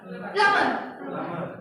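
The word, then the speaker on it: plumber: बाहर is silent, B is silent. प्लम्बर बोलो।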